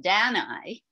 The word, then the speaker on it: Danae: And the story of Danae, let's bring the image up first, and then I'll talk about the myth.